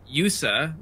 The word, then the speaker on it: YU7A: Yusa, which is how you pronounce the guy who made the hub, YU7A. Weird.